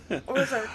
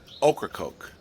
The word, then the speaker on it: Ocracoke: Ocracoke Island. So how you say it, and this is what I was taught from the locals, the vegetable okra, and then a can of Coke. Ocracoke.